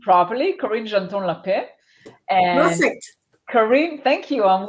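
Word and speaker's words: Karin Genton-L'Epée: And Karin, hopefully I'm pronouncing your name properly, Karin Genton-L Epée.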